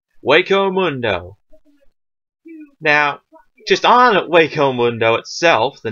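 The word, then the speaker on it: Hueco Mundo: but an actual fact that H is pronounced way as an English word way or for sense for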